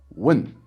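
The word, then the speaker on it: 问: example with the Chinese word for ask which is win with the fourth tone win so in a more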